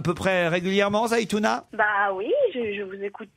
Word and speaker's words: Zaïtouna: Est-ce que je prononce bien? On dit Zaïtouna ou Zaïtouna?